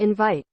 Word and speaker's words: invite: this is only practice right take a look invite invite right invite let's see invite we translate